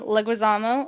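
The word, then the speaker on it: Leguizamo: And the cast featuring uh Stephanie Beatatrice, that's Mirabel, Diane Guerrero, Jessica Darrow, John Leguisamo, I think. Did I say that right? That is exactly how you say his name.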